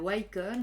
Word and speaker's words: Ycon: moi je dis la icon il y en a qui disent la White com il y a aussi la Recon donc voilà une nouvelle